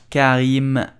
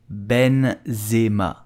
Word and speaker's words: Benzema: top of his level so how do you pronounce you will say Benzema Benzema Karim Benzema did you know that Karen Benzema